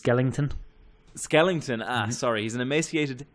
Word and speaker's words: Skellington: emaciated skeleton inside a suit I believe it's pronounced Skellington Skellington sorry he's an emaciated Skellington yes and